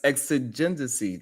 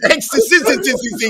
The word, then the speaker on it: exigency: You know, it's exigency. Like what, nigga? No, 3 syllables, man. It's exigency.